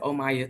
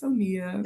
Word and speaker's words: Omia: But yeah, so they just pronounce it Omaya too. I'm like, no, it's Omia. It's Omia.